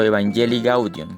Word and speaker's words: Evangelii Gaudium: una lectura o relectura de Evangelii Gaudium o Evangelii Gaudium, que es la pronunciación correcta.